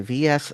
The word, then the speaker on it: VS: Uh then you were wondering about the price of a Nintendo VS system because that is how you say it, a VS system.